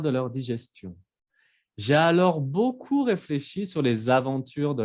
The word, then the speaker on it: beaucoup: Y finalmente, beaucoup. Esa palabra parece sencilla, pero a veces escucho los alumnos que pronuncian la P, pero la P no se pronuncia.